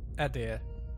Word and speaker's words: Eder: keep to the old ways okay so they pronounce it as dewood and Eder okay need to remember it's truly a Pity